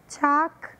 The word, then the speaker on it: chalk: a pronúncia de talk, chalk, calm. Nessas três palavras nós não pronunciamos a letra L. Talk, talk, significa falar, conversar. Chalk, chalk, significa giz, de escrever na lousa ou num quadro negro.